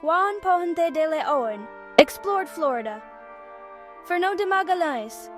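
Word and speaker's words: Juan Ponce de León: Juan Pon DeLeon, pronounced Juan Ponte de Leon, explored Florida.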